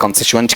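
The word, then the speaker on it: constituent: answer रहेगा direct object कॉन्स्टिटुएंट क्या है आपका ओ और ये भी ध्यान रखना यहां उच्चारण करते हो ना टुवंट नहीं आएगा आएगा च साउंड आएगा कॉनस्टिटुएंट इस तरीके से बताओ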